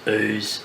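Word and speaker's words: Ouse: through some interesting towns like ooze which I eventually figure out you pronounce ooze have a look on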